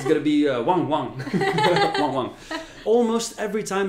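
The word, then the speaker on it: ワンワン: It's going to be wang wang. Wang wang. Almost every time in Japanese is going to be one syllable repeated twice.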